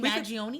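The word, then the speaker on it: Mangione: Brian Thompson yes yeah Luigi magion that's how you say his name we could we could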